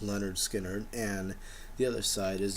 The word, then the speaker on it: Lynyrd Skynyrd: a double album of Lynyrd Skynyrd their first album pronounced leonard skinner and the other side